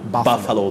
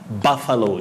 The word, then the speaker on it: buffalo: that exactly but remember the correct or the right pronunciation of that word is buffalo buffalo that letter u takes what we call the mid central sound a buffalo just like you say bungalow not bungalow bungalow buffalo buffalo okay i'm sure we're